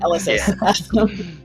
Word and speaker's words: Elysis: It's like yeah, Ella plus How close ellipsis. is it to Ulysses? Like, dude, I guess it rhymes with Elysis? Elysis. Elysis? Elysis. Okay. Yeah, Elysis. Like, emphasis on the first, on the first sound.